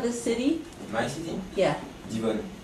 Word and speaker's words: Divonne: Divonne. It's very small. Next to Geneva is just... How do you spell it?